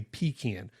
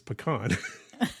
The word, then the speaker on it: pecan: Some of you might be confused because you say pecan. And I'm telling you the actual way to say it is pecan.